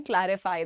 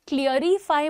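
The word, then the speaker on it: clarify: The other word is क्लैरिटी एंड क्लैरिफाई। इसमें क्लियरिफाई मत बोलिएगा और क्लियरिटी कुछ नहीं होता है, that is क्लैरिटी एंड क्लैरिफाई।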